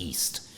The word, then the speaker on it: EST: Well, my next media platform is called Eastern Standard Time, which is spelled acronym-wise EST, which is also pronounced East.